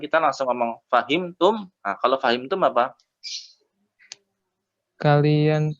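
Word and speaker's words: أفهمتم: katanya ya fahimtum Oya itu sebenarnya ada hamzahnya fahimtum tapi kan lawan bicara kita sudah tak udah tahu makanya hamzahnya enggak diucapkan kita langsung ngomong fahimtum kalau kalian tuh apa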